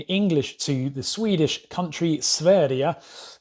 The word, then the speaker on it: Sverige: to the swedish country sverdia which is how you pronounce it in swedish but you've probably not